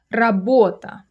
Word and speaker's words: работа: The stress is on the second syllable, by the way.